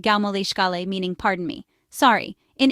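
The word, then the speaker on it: gabh mo leithscéal: The polite phrase excuse me can be used in English, but in Irish you can say gab mo lítsiel, pronounced gau mo líscale, meaning pardon me.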